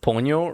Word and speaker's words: Ponyo: Now I just want Ponyo.